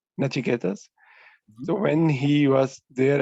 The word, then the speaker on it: Nachiketas: like you said that when Nichiket, sorry if I got his name wrong. Nachiketas.